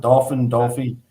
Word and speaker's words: Dauphin: Dauphine, Pennsylvania. I don't know how to pronounce it. Dolphin.